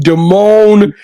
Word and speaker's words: Damone: Nadine Damone. Damone? Yeah. I just say it like that, but you said it right.